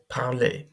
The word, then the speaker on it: parler: So verbs that end in er, we don't pronounce that e, or we don't pronounce the r. So you've seen this in every regular er verb that you've seen so far.